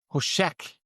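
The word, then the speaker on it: חֹשֶׁךְ: trevas essa palavra Trevas em hebraic signif eh pronunciada como hosek significa eh entre outras palavras essa mesma palavra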